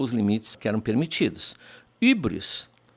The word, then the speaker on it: hybris: Hybris se pronuncia, me lembro da minha professora de francês no colégio, com aquele U com biquinho, que o francês tem U, que nós não temos. Nós temos apenas o U, apenas.